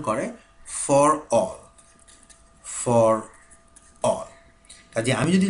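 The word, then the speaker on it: ∀: এই জিনিসটার উচ্চারণ হচ্ছে, বা ম্যাথমেটিশিয়ান এটাকে উচ্চারণ করে ফর অল।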